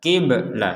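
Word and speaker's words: قبلة: harakat e di sini Jadi jangan sampai terkesan kia kia Enggak ada e Ki enggak ada be di sini di sini bnya itu mati kibla qibla seperti itu anqiblatihim nah baik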